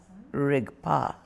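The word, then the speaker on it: རིག་པ: The word in Tibetan for awareness rigpa. two syllables. Rig, the verb to see. And P, the eer suffix.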